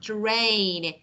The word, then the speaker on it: terrain: So when you say terrain, you need to actually pronounce A longer, like terrain, tray, K, tree, leaves, key.